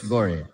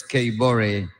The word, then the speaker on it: Bore: apology honorable minister so let me pronounce it correctly honorable Minister Florence Kore um Minister for labor